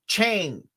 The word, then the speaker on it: Shang-Chi: I hate how people try to pronounce Shang-Chi all proper. I'm from the South, where we say it like Chang, not Chong. I think it's Shang, right?